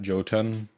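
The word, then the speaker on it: Jotun: yeah last year we got joton I think is pronounced uhhuh and awesome game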